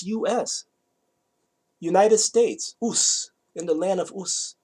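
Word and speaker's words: Uz: job what a coincidence oohs in the land of ooze is spelled in english you z you know but in hebrew it's not you see in hebrew is just in the land of us right in the land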